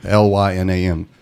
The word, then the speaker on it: Lynam: It's spelled just like it sounds. Yeah. Lynam.